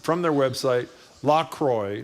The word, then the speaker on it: La Croix: La Croix is pronounced from their website La Croix, not La Croix, and no mention of PFAS content on the webpage.